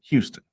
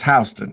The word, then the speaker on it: Houston: of the island and it is spelled h u s t o n h so most most people would say what Houston right yeah but New York it's h it's hon yeah and that's how